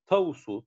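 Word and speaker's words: τ: Biz biliyoruz ki A denilen sayının tavusu, tavu diye okunuyor arkadaşlar bu işaret.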